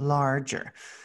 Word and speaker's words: larger: and grow longer larger when you have that ge together makes the soft g sound so instead of making the good sound it makes the j sound larger they eat tiny bugs